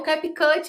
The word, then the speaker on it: CapCut: Se fosse um vídeo mais tranquilo, eu tinha que colocar efeitos que é o capcut, amiga.